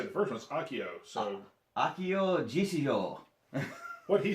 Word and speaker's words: Akio: I know how to say the first one's Akio.